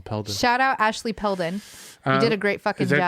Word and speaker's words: Ashley Peldon: I added a extra syllable. Peldon. Shout out Ashley Peldon.